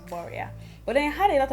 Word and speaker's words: Boriah: shorten it to boria the actual pronunciation is borea but i had a